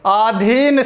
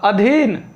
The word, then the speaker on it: अधीन: पहली वर्तनी जो है, ये बहुत बार पूछा गया है, आधीन शब्द। ये गलत है। यहाँ जो आपको दीर्घ है, यानी जिसको हम बड़ा आ कहते हैं, आधीन शब्द बिल्कुल गलत है। क्या शुद्ध होगा? अधीन।